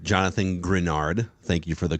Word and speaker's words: Greenard: right now but that's okay another note on grenard Jonathan grenard thank you for the correct pronunciation there so he had the eighth best